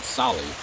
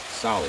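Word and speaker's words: Tsali: As an example, our bike shop is called Sally, T-S-A-L-I, spelled with a silent T, Sally.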